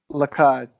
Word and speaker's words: Lacad: Lacad.